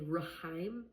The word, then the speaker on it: rhyme: I don't say rhyme. I just say rhyme. I only have the R sound.